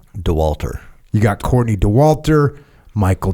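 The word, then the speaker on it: Dauwalter: DeWalter.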